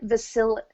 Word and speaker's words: Visalia: Visalia.